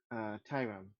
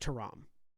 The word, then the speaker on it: Tyram: just as a point of clarity for you, Camille, it's pronounced Taram. Just Taram, because, okay. yeah. Just because you've only ever seen it spelled.